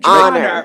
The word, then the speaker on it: honor: Just like you say honor, you don't say honor, you say honor.